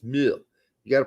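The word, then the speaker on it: Muyl: otherwise uh mu Alex mu I'm told it's mu you got to pronounce it mu now um two goals for Nashville Bartlett a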